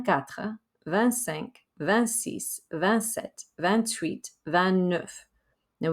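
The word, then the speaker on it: vingt-huit: van sanc vancis vancet van tweet van nuff now we do pronounce the t on ban tweets because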